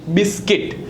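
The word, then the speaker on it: biscuit: सो बिस्किट किट बट सी यू आई टी बिस्किट नॉट गटार बट guitar not building building not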